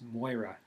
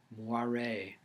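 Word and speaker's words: Moire: But Bert and Mildred didn't know that it was one of the Gaelic variations of Mary, and pronounced Moira. They took it for a French name of the more exclusive kind, and pronounced it Moiré, and quickly shortened it to Ray.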